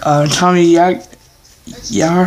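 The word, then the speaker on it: Tommy Yarr: Tommy Yar. That's how you pronounce it.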